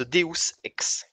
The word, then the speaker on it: Deus Ex: Je suis désolé de vous apprendre que Deus Ex se prononce Deus Ex.